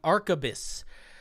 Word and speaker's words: Arquebus: The somebody told me how to pronounce it. What did you say? The Arquebus. The Arquebus Arcane.